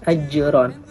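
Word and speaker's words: أجرا: Ajron, maka membacanya harus dipantulkan. Ajron.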